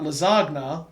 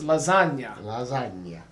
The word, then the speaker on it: lasagna: with lasagna it's here it's not lazagna although i've been known to call it that because i'm pretentious and also an idiot um but it's lasagna and we're blending we're